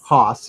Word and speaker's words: Haas: As I think we need to say, AKA Haas. Haas, yes. Not Haas. How do you say Haas.